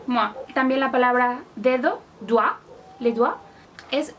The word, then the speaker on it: doigt: También la palabra dedo, doigt, le doigt, es doigt. No doit, doigt. Otra palabra, por ejemplo, noa, que significa nuez. Noa. Entonces ya lo tenemos. O, I, se pronuncia ua.